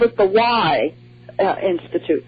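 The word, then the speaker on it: Wye: they called it the Y Institute. They just called it the Y, W-Y-E is how it's spelled.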